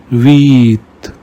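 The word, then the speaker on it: vite: Whenever you see I, pronounce it like E in the English word me. Ami means friend. Il means he. Veet means fast.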